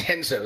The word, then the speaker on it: Renzo: So it's Henzo, so I got to remember that. The R's silent? It is the Brazilian pronunciation.